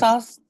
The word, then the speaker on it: Al-Qasas: I'm not too the pronunciation. I think it's al kasa. I think it's al kasa. Qasas, Yes, Al-Qasas?